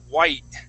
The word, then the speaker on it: white: itself um I don't I don't pronounce that t as well okay so I have